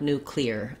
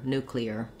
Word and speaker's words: nuclear: sound like new clear i don't want this to be just one syllable clear i want it to be cl or clear and so we have to break that to make it two syllables we glide between the e and the er and it gives us a little bit of a natural sounding your nuclear um so don't exaggerate